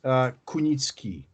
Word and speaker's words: Kunicki: It's first name will be, and or you can simply call me, and the last name is Kunicki.